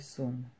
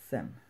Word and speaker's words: Sun: Então, de primeira, se eu ler isso, eu vou ler sum. Mas está errado porque a pronúncia correta é sen.